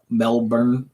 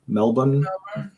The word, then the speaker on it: Melbourne: is yeah it's you you don't pronounce the r as hard so melbourne melbourne like that yeah and uh glenn